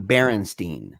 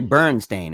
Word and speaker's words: Berenstain: it's it's spelled it's spelled b-e-r-e-n-s-t-a-i-n bernstein not berenstein berenstain and it's actually burn stain it wouldn't even be